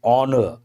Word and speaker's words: honor: It is honor. H is silent.